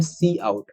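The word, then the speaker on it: cout: आपको दिख रहा है, सी ओ यू टी काउट भी बहुत लोग पढ़ लेते हैं लेकिन वो सही नहीं है, इसको हम प्रोनाउंसिएट करते हैं सी आउट।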